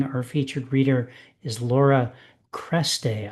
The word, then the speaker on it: Cresté: Tonight, in addition to our open reading, our featured reader is Laura Cresté. I think I'm pronouncing that correctly with the accent aigu over the second E.